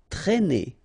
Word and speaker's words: traîner: Traîner, okay, accent circumflexe here, so you should write it, but then keep in mind that you don't pronounce it, so it doesn't change the pronunciation of this combination of two letters, A and E together, it's E, okay, traîner, traîner. Employé, remember, E-M, and then